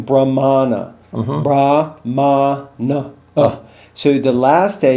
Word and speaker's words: Brahmana: But this word is actually, if you see the A with the line over the top, then it's a but you're saying Brahmana.